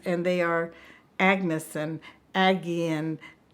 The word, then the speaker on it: Agi: and actually I gay AGI is a very popular Hungarian name and it's pronounced Aggie of course it's Aggie